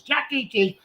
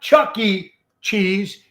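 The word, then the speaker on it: Chuck E. Cheese: check it out promoting no it's called Chuck E cheese not Chucky Cheese it's Chucky Chuck E Cheese Chuck entertainment cheese that's what it means Chuck E cheese so they just came out saying not Chuck E cheese like Chucky from the movies it's Chuck letter E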